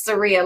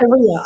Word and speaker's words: Saria: And Jewel, thank you so much for being courageous enough to say my name, but it's Saria, like Maria with an S. Saria.